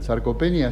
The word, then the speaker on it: sarcopenia: Bueno, y la pregunta de rigor, por lo menos el tema de hoy, a ver si lo pronuncio bien. ¿Sarcopenia, así se dice?